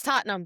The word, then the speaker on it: Tottenham: It's Tottenham.